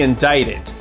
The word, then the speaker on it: indict: Many believe that Trump will be indicted. ‘Indict’ is just a fancy way to say formally charged with a crime. Don’t let the spelling fool you. The ‘C’ is silent.